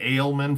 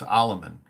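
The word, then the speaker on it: Aleman: oloman's daughter i always i was saying ale men for a while i was pronouncing it incorrectly it's almond harry oloman uh and if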